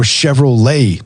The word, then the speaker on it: Chevrolet: Or Chevrolet. There's a T on the end of that, man. Nah, it ain't there.